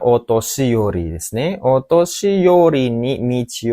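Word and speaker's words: お年寄り: Hai, ini bacanya otoshiyori desu ne.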